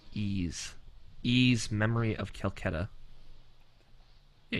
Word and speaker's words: Ys: pee so bad okay evan do you know how to pronounce this title no it's ease ease memory of calcutta